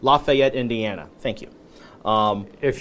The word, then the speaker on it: Lafayette: Is that how you pronounce it? Lafayette. Lafayette, Indiana.